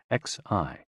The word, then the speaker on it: Xi: and Xi pronounced like she which connects the whole body.